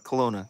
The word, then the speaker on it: Kelowna: in Canada where where you guys think uh Kelowna Kelowna yeah yeah you pronounce it okay yes when I came to